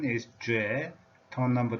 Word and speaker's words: 亅: language Calgary core Calgary core and hook the pronunciation is J tone number 2 J it's a long journey we have just started